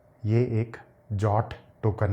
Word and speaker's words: JWT: इसको इस तरीके से नहीं बोला जाता है। इसका सही प्रोनाउंसिएशन होता है जॉट। यह एक जॉट टोकन है।